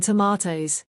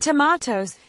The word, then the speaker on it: tomatoes: And tomatoes can be pronounced with a longer like in the US or a short o like we often do here in the UK.